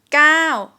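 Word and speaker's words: เก้า: in english number nine gao gao in thai script you can see it started out here but we pronounce it pretty long here right gao gao please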